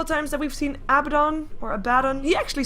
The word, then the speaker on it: Abaddon: I played him for the first time today, but he actually says Abaddon when he joins the game. So I'm gonna assume that that's the way you pronounce it, since voice actors normally have their name kind of right.